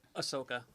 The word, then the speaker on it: Ahsoka: always mess it up i always butcher it ahsoka that's okay okay so she was originally from